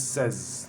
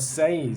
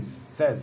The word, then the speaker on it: says: 6 is say, 7 is says, not says, says.